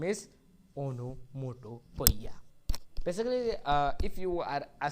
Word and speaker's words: onomatopoeia: But you should follow my guidance, that go and practice the pronunciation of onomatopoeia. You will say, otherwise you will say omonopoeia.